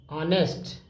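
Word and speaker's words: honest: ऑन the whole ऑनेस्ट ऑनेस्ट ऑनेस्ट में silent होता है याद रखिएगा ही वास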